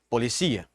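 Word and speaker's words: policía: sal la salal e as heterotônicas que tem a proximidade na escrita porém a sílaba tônica neste caso será diferente polícia policia tá então isso heterotônicos la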